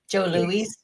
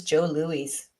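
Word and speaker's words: Jos Louis: Is that how you pronounce it? Because it's it's J O S L O U I S. I don't think anyone in Canada knows how to pronounce this. I thought it was Joe Louise.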